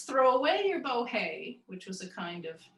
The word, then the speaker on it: bohea: And the fact that tea rhymes with bohea as tea shows that people said, have a cup of tea, just the way the Irish do now.